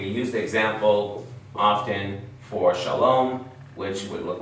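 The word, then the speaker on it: שלום: which is what sha so this letter Sheen gives me the S sh sound Sheen so I start with s h and then I look for the Vol underneath and it gives me what awesome so now I have sha okay the next part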